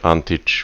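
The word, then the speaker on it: Antić: I assume it's the same Antic, but he said he was Asian in background, and therefore it makes even more sense to say Antich with an Eastern European pronunciation.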